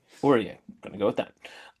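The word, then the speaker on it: Ourrias: or o u r r a i s orier orier going to go with that um so I was pronouncing it oras which is just the head but we're going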